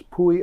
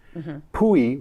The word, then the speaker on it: pwy: one of my favorites because of the way it's spelled puie which means who is pwy udie is y d